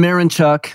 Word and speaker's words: Mironchuk: My personal friends, Jason Mironchuk, Matt Erickson.